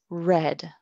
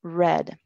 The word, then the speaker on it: read: To read, leer, to read in the past simple in English, this is read. La pronunciación es un poco diferente, read.